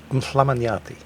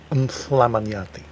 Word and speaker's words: Mhlamanyati: In Siswati, the native language here, that sound, written down as MHL, to pronounce it properly you kind of have to put your tongue, the tip of your tongue between your teeth and blow out. So, Mhlamanyati.